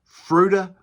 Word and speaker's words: Fruita: city of Fruita and I checked that's how you pronounce it Fruita Colorado that's where Miracle